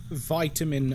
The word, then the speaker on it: vitamin: Cuz it's like it's just a slightly different pronunciation that doesn't fundamentally change like the mouth feel of the word.